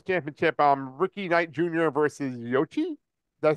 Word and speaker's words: Yoichi: versus Yoichi. Did I say it right? Okay. Yeah. Yoichi.